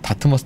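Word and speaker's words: Dartmouth: 아, 다트머스 대학을 미국에는 다트머스라고 부르나 봐요. 네, 다트머스라고. 한국은 다트머스 대학입니다. 그 T 발음이 뒤에 모음이 없기 때문에.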